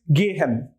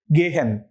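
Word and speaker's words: gehen: say the word is gay hen gay for the sake of you know since you are a beginner let me just say it very slowly although that's not exactly how it is pronounced but come on it's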